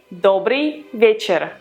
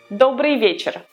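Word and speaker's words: добрый вечер: evening we would say dobriy vecher dobriy vecher dobriy vecher don't confuse with polish is Aldabra it's debris debris with Lear dobriy vecher after saying hello the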